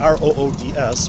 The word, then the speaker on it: Roods: one I was on, R-O-O-D-S, which word is pronounced Roods, which I find the owners of that house very.